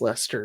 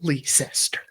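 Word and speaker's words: Leicester: the British people said it's pronounced Lester, not Leeester or Liechester.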